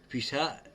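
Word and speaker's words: פסח: Pisha is how the Jews pronounce the name of Passover in Hebrew even today.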